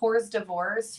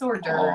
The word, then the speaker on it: hors d'oeuvres: I said hors d'oeuvres for years. It's hors d'oeuvres. Oh, that's cute. It's hors d'oeuvres. It's not hors d'oeuvres. Don't say that.